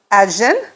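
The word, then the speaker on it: Ajzen: may mispronounce it but I believe it's ajin it's a-j-z-e-n and I do apologize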